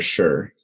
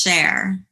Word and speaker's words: Cher: Is it Cher or Sure? It's Cher. Cher.